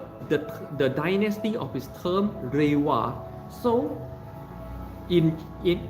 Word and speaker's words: Reiwa: dynasty of his term reiwa so in in if you pronounce reward in mandarin chinese is ling her uh so raiwa this is the third